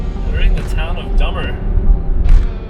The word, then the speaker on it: Dummer: They're in the town of Dummer. I wonder if they pronounce it as Dumer or something. But it's spelled Dummer, D-U-M-M-E-R.